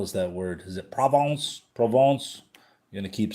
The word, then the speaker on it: Provence: Is it provence?